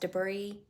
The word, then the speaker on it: debris: the debris d-e-b-r-i-a-f debris why is it pronounced debris if it's got an s on the end of it just take the S off and it can be debris actually it probably should